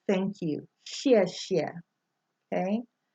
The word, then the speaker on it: xie xie: the beginning word for words like thank you xie xie okay it's always represented with an X but